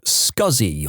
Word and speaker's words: SCSI: Guy put experience with scuzzy on his resume. For non- techies, SCSI is a type of hard drive pronounced as he wrote it, but never in a million years written that way.